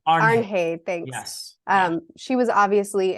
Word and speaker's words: Arnheid: Arnheid, thanks.